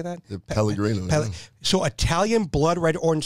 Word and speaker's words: Pellegrino: Pellegrino.